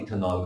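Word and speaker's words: ethanal: लिया जाए इथेनल और इथेनॉल प्रोपेनल में कैसे डिस्टिंग्विश करोगे, ठीक है, इथेनल बोला, इथेनॉल नहीं। Be very clear with the pronunciation.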